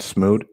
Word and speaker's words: Smude: much coming on and it's adrian am i pronouncing that right smooth yes you got it awesome bro i love